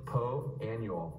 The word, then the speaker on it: Poa annua: Well, the A is silent and so is the U. If you read this, wouldn't you, you'd say Poa Annua. But that would sound a bit daft, really. Poa Annua.